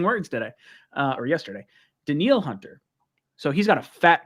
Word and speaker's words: Danielle Hunter: this guy's name wrong it's not daniel hunter it's daniel the neil hunter this is me learning words today uh or yesterday danielle hunter so he's got a